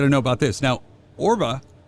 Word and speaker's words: ORBA: Now, ORBA, right?